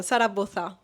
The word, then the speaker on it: Sara Boza: Because I have to I have to pronounce it in Spanish, right? Sara Boza.